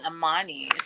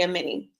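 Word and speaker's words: Amani: I've been saying Ammani. Amen. Well, it's spelled A M A N I. So I think that we made a reasonable mistake. But she did correct Shakina and say Amini.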